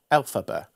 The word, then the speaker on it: Elphaba: Elphaba.